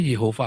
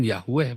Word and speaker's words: Yehova: ya, Di dalam Tanak Ibrani, ya, di dalam Tanak yang asli, yang tulisannya orang-orang Masoret yang asli, tulisannya Yehova, Pak. Bukan Yahweh, Pak. Yehova ya. Yehova, bukan Yahweh.